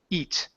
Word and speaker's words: eat: this one is just eat sorry instead of air so we don't need to pronounce the E and the a it's only one sound e eat eat good why we while